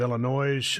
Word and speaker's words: Illinois: And yes, to everybody that lives in the great state of Illinois, I actually know that it's pronounced Illinois.